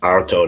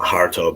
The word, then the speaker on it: Harto: think his he Spanish it would be pronounced arto not harto but people probably pronounce the h um if you don't